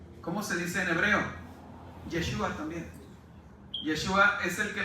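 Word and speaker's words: ישוע: Yeshua también.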